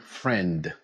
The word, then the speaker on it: friend: Our fourth target is the ending of the word friend. The word ends with N and D. Friend. Try to pronounce the final D sound.